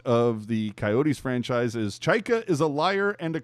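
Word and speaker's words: John Chayka: President of Hockey Ops and General Manager Jon Chayka, am I pronouncing that correctly?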